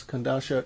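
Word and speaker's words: Kodansha: Am I pronouncing it right? Yes, Kandasha Comics out of Japan.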